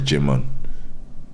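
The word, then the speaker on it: Djimon: so his name is jimm oh yeah okay yeah I think the D is silent soim hu great actor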